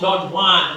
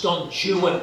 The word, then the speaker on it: Don Juan: It's not Don Juan, it's Don Juan, because he rhymes with true one, new one.